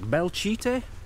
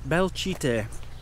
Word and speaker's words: Belchite: So, welcome to, I think it's Belchite. Belchite. The way it's spelt made me laugh. It looks a bit like Bel... Shite. Belchite. Belchite. Now, we're not going to get to show you anything here.